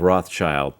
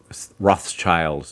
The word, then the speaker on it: Rothschild: That's kind of the fingerprints of Rothschild, third cousin of Rockefeller, finance. In London, or in England, they even have a Rothschild's Day.